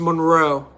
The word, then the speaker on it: Monroe: My name is It's pronounced Monroe.